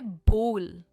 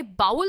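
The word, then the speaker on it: bowl: और इसकी प्रोनाउंसिएशन है बोल, राइट? इट इज बोल। हमने ये पिछले लेसन में कवर किया था। ये बाउल नहीं है, ये है बोल।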